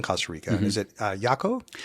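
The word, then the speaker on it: Jacó: Is it uh Yako Hakaco? Hako. Thank you for the correct pronunciation.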